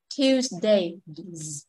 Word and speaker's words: Tuesday: từ này Tuesday Tuesday chúng ta đừng đọc ch Ti trong tiếng Anh nó không biết t nó hơi khác V em hiểu không người Việt mình có ch t t t đúng không Đây là một cái cái phụ âm rất dễ nhầm lãnh giữ giữa tiếng Anh và tiếng Việt nhưng mà tiếng Anh của mình nó sẽ không t t hai ră em chạm vô em đọc này Tuesday Tuesday ok rồi